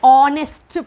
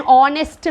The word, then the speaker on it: honest: can tell c an honest man an honest man so here if you take h again h is silent here okay though it is